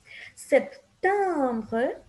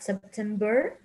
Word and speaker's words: septembre: Septembre, Octobre, Novembre, Décembre. Remember that it's not September, November, December, it's bre.